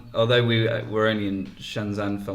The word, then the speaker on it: Shenzhen: Hong Kong is a place called Shenzhen, and Shenzhen. Well, that's how it's pronounced. Okay, Amy, learn the lingo. But although we were only in Shenzhen for like a few hours, the best part